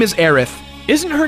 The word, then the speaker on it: Aerith: the PC game now refers to her as Aerith - so we're gonna call her that here